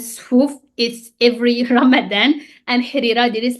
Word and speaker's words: harira: So it might be written like that, but in pronunciation is harira. Harira. It's not the American R, it's r. So harira, harira.